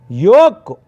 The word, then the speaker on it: yolk: And the next word is ninth word is yoke. For example, yoke is a L is a silent letter. L is a silent letter, my dear students. L you should not pronounce. That word is yoke.